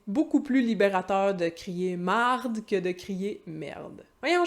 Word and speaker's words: marde: Notez qu'en québécois très familier, le E devant un R se change souvent en A. C'est pour ça que merde, ça devient souvent marde.